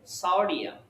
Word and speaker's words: সোডিয়াম: সোডিয়াম, উচ্চারণটা হচ্ছে সোডিয়াম, আবার উল্টাপাল্টা করবে না, সোডিয়াম এটা না, এস ও মানে স হয়, এস ও সু হয় না।